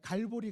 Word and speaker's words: 갈보리: 분이 계실 수 있는데요 사실은 같은 말입니다 이 알아 뭐 히브리어로 했을 때 발음이 골고다 인 것이고 우리 한국 막 씩으로 했을 때 그 것이라 친 으로 해서 영어식으로 바뀌면 텔 볼이 가에 갈보리 가 되는 것입니다 그런데 골고다의 뜻이 뭐에요 왜